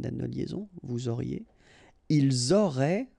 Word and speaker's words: ils auraient: Ils auraient, remember, ENT, you don't pronounce it, auraient, ils auraient, elles auraient.